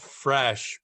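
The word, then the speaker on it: Phresh: women's hygiene brand and it's called fresh but it's spelled ph resh and it's precisely for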